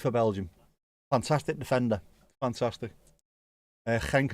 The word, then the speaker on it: Genk: Even more confusing when you pronounce it correctly with the ch. It's what? Genk and Gent.